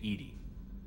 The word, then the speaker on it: EDI: airlock is a jar why are you named Ed Ed is the phonetic pronunciation of e that is an acronym for